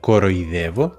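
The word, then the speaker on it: κοροϊδεύω: Así que la palabra coroidevo se escribe con dialítica, los dos puntitos, para indicar que las dos letras se tienen que pronunciar separadas.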